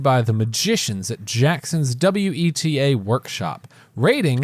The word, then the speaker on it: Weta: the magicians at jackson's weta workshop raiding it's pronounced wedda what a workshop what